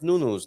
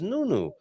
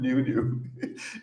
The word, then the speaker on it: Nuno: James how to pronounce nuno's name like a Portuguese it is nunno I never I never